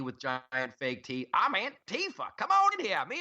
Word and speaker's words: Antifa: I don't want to be on a beach beating up some anti-fa. And they need a better name. Can we give them a nickname? We should have a contest. It's actually pronounced Antifa.